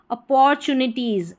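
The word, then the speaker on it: opportunities: ये जो TU रह रहा है ये भी कई बार कई स्पेलिंग्स में TU को चू करके पढ़ा जाता है, अपॉर्चुनिटीज़, अपॉर्चुनिटीज़, अपॉर्चुनिटीज़ ना बोल के अपॉर्चुनिटीज़, ओ को अ।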